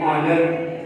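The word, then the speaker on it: honour: भी एक्सेप्शन है, जैसे और, फिर ऑनेस्ट, फिर ऑनर। यहाँ पर देखें 3 वर्ड्स के अंदर एच साइलेंट है क्योंकि ये पहले आया है, एच पहले आ जाए तो साइलेंट होता है।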